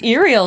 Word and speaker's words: Uriel: It's Iriel, isn't it? It's Uriel. Yeah, Uriel. it's not Uriel.